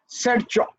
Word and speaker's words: Sharchop: I am very sorry that I can't give you exact pronunciation, but I pronounce it as Sarchop.